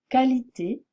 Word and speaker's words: qualité: l'erreur neu qui concerne la graphie Q u en français qui se prononce comme son symbole phonétique c'est-à-dire comme un cas d'accord juste cas quand qualité par conséquent je ne dois pas dire jusquoi qui qualité ou par conséquent d'accord c'est une erreur